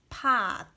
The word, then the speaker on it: 팥: So first one, 피읍 plus a is pa plus ending consonant 티읕 is pot. 피읕 is p and a is a, and ending consonant 티읕 is, it pronounces d.